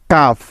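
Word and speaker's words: calf: এখানে সাইলেন্ট আছে next F এর আগে এল সাইলেন্ট এর উদাহরণ যেমন হাফ এইচ এল এফ হাফ কাফ সি এ এল এফ কাফ বিহা বি এইচ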